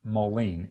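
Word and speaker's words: mullein: our must-have list is mullen or some people pronounce it moline m-u-l-l-e-i-n you can do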